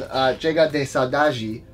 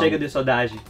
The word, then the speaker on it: Chega de Saudade: So this album's called Chega de Saudade. Is that how you pronounce it? No. That's so wrong. Chega de Saudade. That was close.